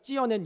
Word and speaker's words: 찧어낸: 이 들통에다 이렇게 만두 찌듯이 그런 발음인 것 같아서 읽는 성경을 한번 들어봤더니 이 성우들도 똑같이 찌어낸 이렇게 발음을 하더라고요.